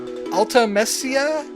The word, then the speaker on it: Ultimecia: Ultimecia? Sounds like ultimatum? So maybe that's how you pronounce it?